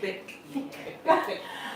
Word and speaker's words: Thique: Remember that thick is spelled T H I Q U E thick.